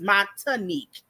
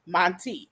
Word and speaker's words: Montique: I add a whole new syllable. It's Montanique. That's what you normally say, but it's Right, Monty. because it looks like Uh-huh. Monique, and that TI throws me off. Uh-huh. But it's clearly Montique.